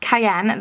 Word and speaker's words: Cayenne: metallic deep red with gold my crew shimmer Cayenne that's how you say it I googled it